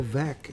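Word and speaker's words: Veeck: about a little bit bill veck as in wreck that's why he would tell people his name is pronounced um was famous for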